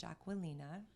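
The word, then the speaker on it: Aquilina: first I was scared - I was gonna mispronounce her name it's Judge Ocwen Lena for everyone that needs to know that and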